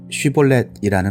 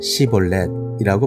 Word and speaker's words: 쉬볼렛: 그가 에브라임 사람이 아니라고 하면 그에게 쉬볼렛이라는 말을 발음하게 하였다. 그러나 그가 그 말을 제대로 발음하지 못하고 시볼렛이라고 발음하면 길르앗 사람들이 그를 붙들어 요단강 나루터에서 죽였다.